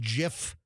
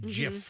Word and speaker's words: GIF: GIF like an animated gif you know mg I think by the way it is pronounced GIF not GIF it is officially it's like peanut butter like the peanut butter so if you want